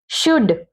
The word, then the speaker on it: should: शुड, SHOULD, L silent है यहां पर, तो हम क्या पढ़ेंगे, शुड।